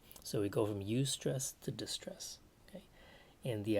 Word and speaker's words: eustress: a thing as good stress and it is pronounced eustress e-u-s-t-r-e-s-s right so the idea here is that